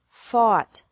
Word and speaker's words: fought: Oh ugh T or au ght but the pronunciation is the same bring bra brought by bought bought catch caught caught fight fought fought seek sought sought teach taught taught think